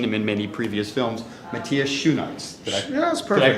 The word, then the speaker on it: Matthias Schoenaerts: It is my pleasure to introduce you to, although you may have seen him in many previous films, Matthias Schoenaerts. That's perfect. Did I pronounce it close enough?